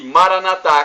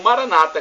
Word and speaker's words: Maranata: E Maranatá, como dizemos nós católicos, ou Maranata, como dizem nossos irmãos separados, os evangélicos ou protestantes. Não importa a pronúncia, o significado é o mesmo.